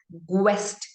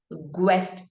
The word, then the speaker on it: guest: Now, if you don't apply the rule, you probably read this word as guest. Guest. And somebody comes to your home. They could be your guest, right? We don't say guest. I had some guests at my home. No, we say guest. And that's the rule. So your U is in between the letter G and the vowel E.